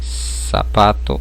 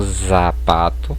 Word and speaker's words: zapato: Ela vai ter um sonzinho de S, né? Como em sapato e não zapato, percebam, a pronúncia é diferente.